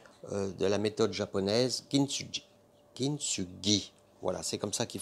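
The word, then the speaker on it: 金継ぎ: Kintsugi. Voilà, c'est comme ça qu'il faut le prononcer.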